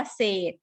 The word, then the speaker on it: เศรษฐี: เศรษฐี เห็น ไหม คะ เรา ออก เสียง ว่า เศษ เรา ไม่ ไม่ ได้ ออก เสียง ตัว รอ ออก เสียง แค่ ตัว ศ.